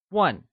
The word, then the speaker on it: 问: 请 is pronounced with a falling, rising tone, and starts with a ch sound, whereas 问 is pronounced in the falling tone.